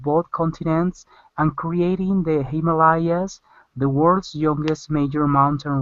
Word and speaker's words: Himalayas: This is Himalayas, the Himalayas. Himalayas.